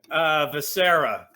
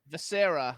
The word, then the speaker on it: Vescera: So how do I actually pronounce your last name? Vescera. Vescera. Okay. Jimmy, what's wrong with you that you don't know how to pronounce? I just want to make sure I do it right when I do it. Vescera means the night in Italian.